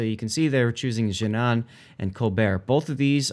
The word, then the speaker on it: Jinan: Jinan.